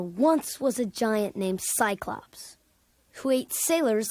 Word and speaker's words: Cyclops: your head the Giants named Cyclops has an s-sound because it comes before the letter Y icebox the sea and